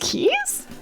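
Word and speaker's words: Caius: Yeah, that's pronounced Keys?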